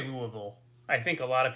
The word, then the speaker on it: Louisville: Nancy, I say Louisville. I think a lot of people say it wrong, and I probably, yeah, but I say Louisville.